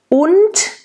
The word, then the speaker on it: und: Und, make sure the und has a T at the end, doesn't sound like D.